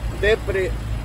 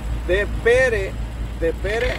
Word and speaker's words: De Pere: Se llama Depre, Wisconsin. Digo, de Pere o de Pier, quién sabe, pero se escribe de Pere, copy.